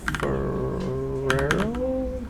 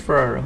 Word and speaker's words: Ferrero: say his name is Robert fero no no it is Ferrero yeah this guy's illustrations